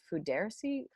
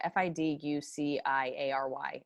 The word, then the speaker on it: fiduciary: it i think that's i actually said it wrong yeah f-i-d-u-c-i-a-r-y obligation judiciary oh so i'm going to read that fiduciary fiduciary sounded english it also sounds like douchery but i'll do it